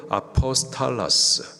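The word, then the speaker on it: ἀπόστολος: 사도, 헬라식 발음으로 아포스탈라스, 영어로 파송된 단어가 아포스톨, 사도.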